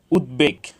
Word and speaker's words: উদ্বেগ: সুন্দর করে দেখে নেই উদ্বেগ এখানে দ এর সাথে ব ফলা যুক্ত হয়েছে এজন্য এখানে ব ফলার উচ্চারণ অবিকৃত হয়েছে উদ্বেগ উদ্বোধন উৎ এখানে উৎ